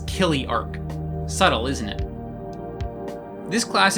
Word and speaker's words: Chiliarch: as many of you pointed out is not pronounced chiley Arch it's Killy Arc subtle isn't it this class is basically L